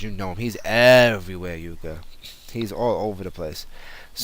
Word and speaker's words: Jukka: Well, for Yuka, I would say on Twitter, Yuka is Yuka. That's UKKA JUKKA. Let me spell it right.